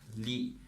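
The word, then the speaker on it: 力: So the front logo here is a Chinese word and it's pronounced as Li.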